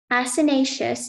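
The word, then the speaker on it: acinaceous: Asinaceous is the only pronunciation.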